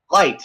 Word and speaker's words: Light: your last name sir light like a light bulb all right well that's